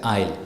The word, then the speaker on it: aisle: So S is silent. Aisle.